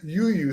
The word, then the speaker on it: UWUW: so I'm like no it says it says you you so we just kind of came like I